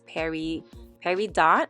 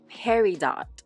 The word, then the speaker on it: peridot: it's also August is Perry Perry dot I always say it wrong Peridot um so which is